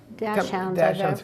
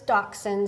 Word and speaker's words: Dachshund: the first two uh Dash people obviously pronounce that incorrectly do sometimes it's doxin do doxies weener dogs